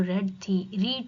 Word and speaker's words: read: Spelling same होगी लेकिन pronunciation रीड की डिफरेंट है, तो वो रीड की वर्ब की थर्ड फॉर्म में रेड बोला जाएगा, रीड को।